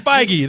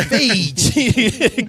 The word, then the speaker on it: Feige: It's Kevin Feige. They're okay. Yeah, you were pronouncing like it was yogurt. Yeah. Feige.